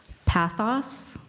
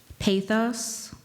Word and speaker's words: pathos: there any alternate pronunciations there are several let me try to get these right pathos pathos pathos what was the definition